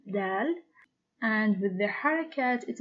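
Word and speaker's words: دال: the pronunciation of that it is similar to the del of door it is named del and with the haircut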